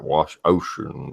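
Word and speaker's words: Wouxun: But Wouchon says how they pronounce it like it says ocean, like wash ocean, whatever.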